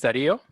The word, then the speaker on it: Dario: How do you pronounce it? Where are you, Dario? Hello, everybody. My name is Dario.